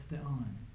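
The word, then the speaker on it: θεόν: So it's not Theon, it's Theon, because the accent's on the last syllable.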